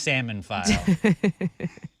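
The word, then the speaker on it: psammophile: Pronounced salmon file.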